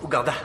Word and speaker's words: Ouganda: Ça se prononce Ouganda.